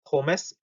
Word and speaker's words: Pommes: 그리고 앞에 것만 뜯어서 발음하면 포메스 이렇게 읽는다.